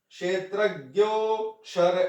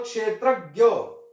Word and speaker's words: क्षेत्रज्ञ: अव्ययः, अव्यय, अर्थात् अव्ययः, अव्यय पुरूषः साक्षी क्षेत्रज्ञ एव च। यहां 'ज्ञा' का सही उच्चारण वास्तव में 'जा' है। सामान्य प्रयोग के कारण, हम क्षत्रज्ञ में 'ज' के स्थान पर 'ग्या' का उच्चारण करते हैं।